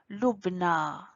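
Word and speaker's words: لبنى: Il y a le alif maqsoura à la fin, donc on prononce A. Moussa, Isa, Leila, Lubna.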